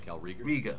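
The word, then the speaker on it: Kal'Reegar: was this have you heard any word about calright riga he can survive his injury that's how you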